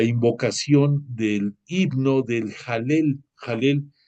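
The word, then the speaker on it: Hallel: Jalel se pronuncia con J, se escribe con H dentro del hebreo. Jalel, H-A-L-L-E-L.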